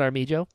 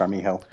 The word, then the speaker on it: Armijo: So it's not Armijo. It's Armijo.